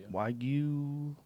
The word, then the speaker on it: Wagyu: And I think that's Wagyu. How do you say it? Wagyu.